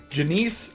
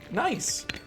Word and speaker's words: gneiss: of things um from Janice to Genesis to uh Janice Genesis all kinds of things well I decided to look it up um and it is actually pronounced nice um nice ni rocks so it's